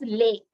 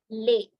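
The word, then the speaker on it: les: just have to put l s which is Lay pronounced as lay l s is pronounced as lay and it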